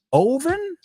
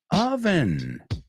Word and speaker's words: oven: Oven. Bueno, normal que lo pronunciáis mal, porque tiene una O, entonces quieres poner una O, y eso es como se hace en español, pero no en inglés.